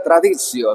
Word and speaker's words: traditio: La sacra traditio se dice así arriba. Traditio es tradición. Fíjate cómo te lo pronuncio, no digo traditio, no. Esta pronunciación es latina de Italia.